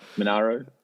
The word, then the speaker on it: Monaro: Monaro.